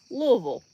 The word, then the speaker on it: Louisville: pronounce the state or pronounce the city like you have a piece of angel food cake in your mouth and you say the the town so it's Louisville like you take your